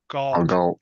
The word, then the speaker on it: Galt: Galt. Gold. Galt.